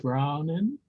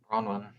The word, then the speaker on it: Bronwyn: Brownin? Bronwyn. Would she accept the nomination to be one of the trustees? Husband and wife team. Oh, was that a up? You're on mute, Bronwyn.